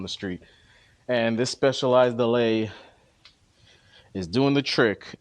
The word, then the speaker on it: Allez: It's pronounced Allay, right? But it's spelled Alles. And my my Broward County ass was reading this like in my head as oh yeah I got this specialized alles and it makes it